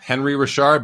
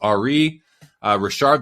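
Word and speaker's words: Henri Richard: big ones the biggest one being Ari Rashard Henry Rashard but pronounced Ari uh Richard that's the that he was known as the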